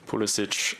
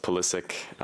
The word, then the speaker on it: Pulisic: Obviously, being of, Croatian heritage, I think Pulisic is always correct from that point of view, but obviously growing up in America, it was always pronounced Pulisic, so that's just what I'm used to. But both I'm very much okay with.